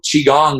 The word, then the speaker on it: qigong: we before the show qigong the hardest part about this practice is to say the name because it's spelled q-i-g-o-n-g now let's demystify it